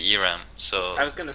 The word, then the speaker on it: Eramm: pronounce this okay so it used to be Aram right but all the Americans say Iram so I was going